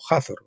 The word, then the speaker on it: Hazor: hazor una fortaleza norteña en azor o hazor como quieran si si es con h muda azor si es con h pronunciada Pues hazor en el cuarto cautiverio